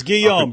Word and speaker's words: Guillaume: So this is from Alfred Goulamez's or is it Guillaume? It's Guillaume. Go with the French. Guillaume. It's spelled Guillaume, but yeah, Yeah. The French are ridiculous and pronounce things in weird ways.